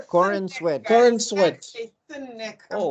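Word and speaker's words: Corenswet: Corin Sweat.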